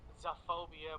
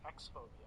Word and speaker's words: X-phobia: that it says x-phobia i know it looks like it says zephobia but i did a little research and apparently the original artist likes to pronounce it as x-phobia and in the bottom